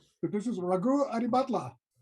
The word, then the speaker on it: Raghu Adibhatla: This is, and please smack my hand if I get your name wrong, but this is Ragu Adibatla.